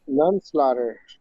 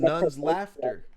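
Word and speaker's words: Nunslaughter: none slaughter. None slaughter, yes. It's actually pronounced Nun's Laughter.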